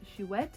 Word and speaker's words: Chouette: one is figuarts zero shoet and yes it is a french word and pronounced shuet i had to talk